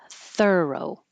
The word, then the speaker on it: thorough: And this one looks like O, thorough, but it's not pronounced that way. It's like her, thorough.